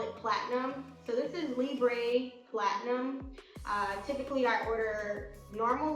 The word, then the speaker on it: Libre: They say Libre, but I think it's a French label, so it's probably pronounced Libre. So this is YSL Libre, but since we're Americans, we say Libre, as if we're Mexicans.